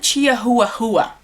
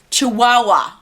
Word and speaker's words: Chihuahua: there my sister said what is it jia hua hua jia hua hua and i like ah that's not how you say it you say Chihuahua see ya i'm calling